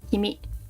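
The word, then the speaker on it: 君: get some of the more common ones like Kimi or Kun this is you or couldn't which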